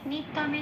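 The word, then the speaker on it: নিত্যম্: Second লাইনের নিত্যমে নিটা যেমন আছে তেমন, তয় জপলায় লাল দিয়েছি জফলার উচ্চারণ বোঝানোর জন্য।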